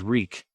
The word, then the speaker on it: Reek: to be reborn as reek wreak reek it rhymes with shriek suddenly he did not